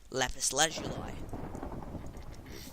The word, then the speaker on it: lapis lazuli: myself one piece of lapis lazuli it's actually pronounced lapis lazuli so if i say lapis lazuli instead of